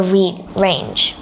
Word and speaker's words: reign: Queen Elizabeth II supported over 600 charities during her reign. Reign. It sounds like the word rain.